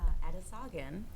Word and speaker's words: Edison: It's uh Edison. Almost phonetically exact.